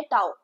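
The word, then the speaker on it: tau: फिर ये एक न्यू सिंबल इंट्रोड्यूस हुआ है एंड इसको बोला जाता है टाउ। क्या बोला जाता है? टाउ। आप इसको ऐसे जो है स्पेल प्रोनाउंस कर सकते हो।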